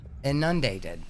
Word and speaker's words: inundated: Inundated. Inundated. Is that I don't think that's the right word. No, she's putting the emphasis on the wrong sal. The word is inundated.